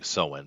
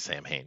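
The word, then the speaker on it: Samhain: Now, I'm just pronouncing it correctly by calling Soen, but most people recognize Sam Hain, so that's fine.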